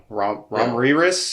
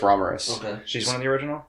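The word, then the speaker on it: Ramiris: is it romney yeah rob riris is kind of what it looks like but it's roberous she's one of the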